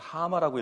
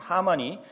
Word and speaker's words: 하만: 독특하게 생겨서 하마라고 불렀었는데, 그래서 이것을 읽을 때마다 자꾸 이 받침이 자꾸 저는 빠지게 되는 것 같아요. 그래서 하마라고 읽게 되는데, 아무튼 하만이 나옵니다.